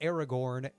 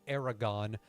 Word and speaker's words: Aragorn: really mean anything considering I've heard people call even people like Aragorn Aragon or Hermione Hermione.